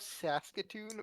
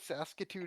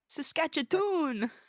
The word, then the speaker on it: Saskatoon: Saskatchon.